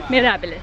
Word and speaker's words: Mirabilis: Mirabilis, that's right.